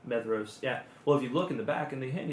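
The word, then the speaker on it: Maedhros: Yeah, that's how I say his name. I think that's right. Even though there's a D in there, Methros.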